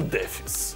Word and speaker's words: дефис: Илюша, а ты поставил дефис? Ну так вот и в этом вопросе я должен тебя разочаровать. Правильное ударение здесь падает на букву дефис.